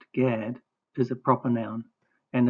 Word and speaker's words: Gad: Gimmel Darot, pronounced Gad, is a proper noun and is Yakov's seventh son and the tribe of Israel.